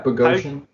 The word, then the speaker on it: Bogosian: Bogosian, is that how you say it? Yeah, Bogosian.